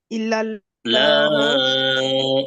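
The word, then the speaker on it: إِلَّا ٱللَّٰهُ: কালিমা তাইবা লা ইলাহা ইল্লাল্লাহ ইল্লাল্লাহ না, ইল্লাল্লাহু।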